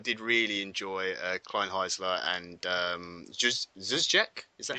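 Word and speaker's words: Dzsudzsák: I did really enjoy Kleinheisler and Zuzjek. Is that how you pronounce it? Zuzjek, yeah.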